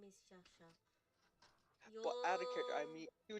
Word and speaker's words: Shasha: My name is Shasha. But out of character, I You'll. mean, you would say the actual right pronunciation.